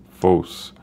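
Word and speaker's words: φῶς: Notice that's the Greek word phos. If we go take a closer look at it, let's hear the Greek pronunciation.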